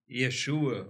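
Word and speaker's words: ישוע: Existem algumas dúvidas sobre a pronúncia correta, mas o nome dele quer dizer... Jesus é o Deus que salva, ou Deus Salvador. Yeshua, alguma coisa parecida com isso, a pronúncia correta.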